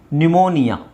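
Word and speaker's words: pneumonia: cupboard ಅಲ್ಲ ಕಬಡ್ ಹಾಗೆ ಇಲ್ಲಿ P silent ನ್ಯೂಮೋನಿಯಾ ನ್ಯೂಮೋನಿಯಾ ನ್ಯೂಮೋನಿಯಾ ನ್ಯೂಮೋನಿಯಾ ಕೇಳಿದ್ದೀರಾ ಒಂದು ಕಾಯಿಲೆ ಜ್ವರ ರೈಟ್ ನ್ಯೂಮೋನಿಯಾ ಹಾಗೆ ಇದು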